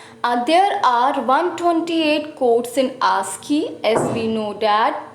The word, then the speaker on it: ASCII: Today we discuss ASCII.